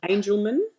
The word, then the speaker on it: Angelman: Angelman, like angel as in angel, and then man.